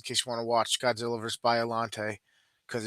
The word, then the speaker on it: Biolante: Biolante. Biolante. Is it Biolante?